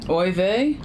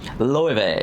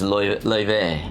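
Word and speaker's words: Laufey: Oive? Loewe. Oh, Loewe. It's L-A-U-F-E-Y, Oh, but the Icelandic. pronunciation is Loewe.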